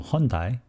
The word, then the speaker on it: Hyundai: alphabet is like this hyundai the car company made a strange choice long time ago so it was spelled as hyu and dai so many people would read as a hyundai or hyundai but its correct pronunciation is hyundai if somebody asked me